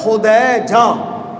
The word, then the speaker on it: خدیجہ: دیکھیں سیدہ خدیجۃ الکبریٰ اصل تلفظ کیا ہے؟ خدیجہ، لیکن یہ زبانوں پہ چڑھتا نہیں ہے، لوگ خدیجہ خدیجہ ہم کہتے ہیں، تو چونکہ یہ مشہور